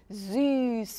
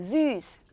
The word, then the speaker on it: süß: 이 S채트라고 불리는 이 알파벳은 단어 안에 들어가면 어떤 소리가 났었어요? 스 소리가 났었어요. S랑 똑같은 발음이 났었어요. 그래서 어떻게 읽냐? süß 이렇게 읽으시면 돼요. 읽어볼게요. süß.